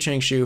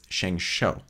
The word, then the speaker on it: ShengShou: I was like okay it's Shang Shu so I said Chang shoe for about a year a lot of people on my videos were like laughing about and they really don't know how to pronounce it and I would usually kind of back thing like might be the pronunciation and now it seems that people who do actually speak Chinese or Mandarin actually don't know exactly this by ah said shengshou so and I looked